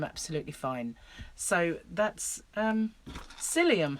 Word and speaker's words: psyllium: fine so that's um psyllium husks and it's spelt with a p i'll i'll cover the